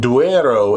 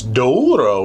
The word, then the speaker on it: Douro: Well, you have to think because it's something like duero if you're on the Spanish side, but it it's duro if you're on the Portuguese side.